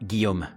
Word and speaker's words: Guillaume: Today, I wanted to thank Guillaume Berton. Yes, I can say the real pronunciation because Guillaume, too, is a French man.